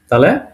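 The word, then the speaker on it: т: কিসের মত রয়ের মত এটাকে বলব এর ওকে তাহলে 19 নম্বরে চলে আসি এটা আমরা সি এর মত দেখতে কিন্তু এটাকে আমরা পড়ব কি এস এস এস উচ্চারণ হবে দন্তস এর মত ওকে তাহলে 19ম্ব গেল আমাদের এস নাম্বারট তে তে রাশিয়ান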